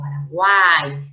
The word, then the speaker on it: Paraguay: En Paraguay, ya te dije que la Y al final de sílaba cuenta como una I, por lo tanto es un triptongo. Paraguay, cerrada U, abierta A, cerrada I, con acento en la A, ¿no?